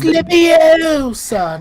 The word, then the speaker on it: Leviosa: Where you cast Yeah, Levioso and Leviosa. make him levitate, and Wingardium. Yeah, you just start like hitting. It's Leviosa, not yeah.